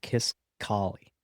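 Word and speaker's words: Kisqali: Kiss I think it's pronounced Kiss Collie. K I S Q A L I.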